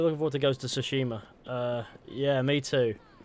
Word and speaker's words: Tsushima: We're looking forward to Ghost of Tsushima. Yeah, me too. Or Tsushima. Tsushima, that's more like it. I keep saying the name wrong. I'm sure it's Tsushima. Tsushima.